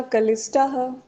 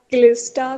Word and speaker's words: क्लिष्टा: वृत्यः पंचतयः क्लिष्ट बोलेंगे, क्लिष्टा है, कलिष्टा नहीं बोलेंगे, पूरा का नहीं है, वो आधा का है, और वो भी उस पर छोटी की मात्रा लगी हुई है।